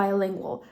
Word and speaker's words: bilingual: wymowy czy też nie bo tutaj jak mamy napisane właśnie to podwójne E tak no to wtedy wiadomo czytamy to jako b tak jak właśnie pszczoła ale kiedy mamy tak tylko tylko i wyłącznie właśnie samo i no to wtedy ta wymowa nam się zmienia do by bilingual Przynajmniej tak to wygląda